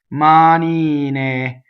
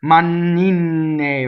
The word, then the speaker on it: manine: And this is actually a good combination of two words for single consonants, right? Manine, manine, right? So, mistakes, I hear manine, right? Double N's everywhere.